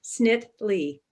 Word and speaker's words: Snitily: last name for us it has two syllables the second eye is silent snit lee okay great the easier